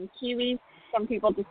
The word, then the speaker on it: Quihuis: It is pronounced Quihuis, right? Yeah, that's correct. It's just like the kiwi fruit with an S. Quihuis.